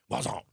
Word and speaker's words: croissant: Wazon.